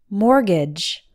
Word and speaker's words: mortgage: first syllable m ort sounds exactly like more the T is silent and the second syllable GA GE has an a sound that sounds more like the I in bridge gidge mortgage number nine salmon salmon